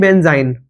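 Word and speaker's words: benzyne: मतलब एक मतलब बेंजीन नहीं बेंज़ाइन।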